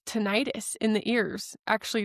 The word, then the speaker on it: tinnitus: Maybe it's tinnitus in the ears. Actually, it's pronounced tinnitus, but nobody says it that way, so I'm going to say tinnitus.